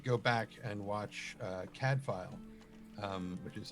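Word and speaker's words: Cadfael: stuff like that and that's spelled c-a-d-f-a-e-l cad file it's welsh for battle prince oh my my favorite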